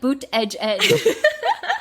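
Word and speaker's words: Buttigieg: yeah I think so it says like boot Edge Edge but when you look at it it's like boot it seems like a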